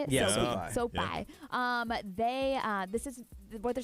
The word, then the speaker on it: SoFi: Yeah, SoFi.